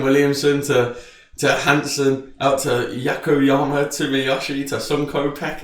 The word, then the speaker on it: Ayumu Yokoyama: Yokoyama. Ayumu Yokoyama. Jesus Christ, man. It's going to be a tongue twister this season. William Williamson to Hansen, out to Yakoyama, to Miyoshi, to Sunko Peck.